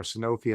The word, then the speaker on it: Sanofi: Rohit, for those not familiar with Sanofi or Sanofi as it's often pronounced, tell us about the